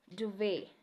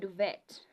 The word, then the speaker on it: duvet: you say often yeah duvet it's not duvet yeah Buffet it's not